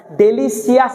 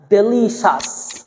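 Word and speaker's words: delicious: আওয়াজ পড়া যাবে না সি আই ও ইউ এস সাস সিয়াস পড়া যাবে না ডেলিসিয়াস না ডেলিশিয়াস ফেমাস কথা বুঝতেছেন কিনা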